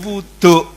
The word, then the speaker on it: wuduk: Nah, wudu ini pengucapan orang Jawa menjadi wuduk.